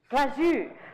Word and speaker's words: Glazou: He told me to say it like I was sneezing it. Glazou.